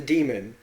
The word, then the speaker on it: daemon: I keep saying it because it's written Daemon, and it makes me mad because I every time I see the words, I try to sound it out the way it's spelled.